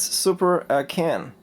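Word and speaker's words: Super A'Can: And by the way, I really asked a guy in a retro video game shop in Taipei in Taiwan how to pronounce the system, and he said it's Super A CAN. Alright, so I go for that too and call it Super A CAN.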